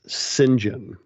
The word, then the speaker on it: St. John: And not only that, apparently, the proper pronunciation for that first name is Sinjin. Oh, really? Yeah, it's a weird British thing, and I only know